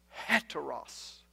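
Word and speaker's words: ἕτερος: you were pronouncing it Anna Ross no no no I was pronouncing it with the H sound had to Russ why was I doing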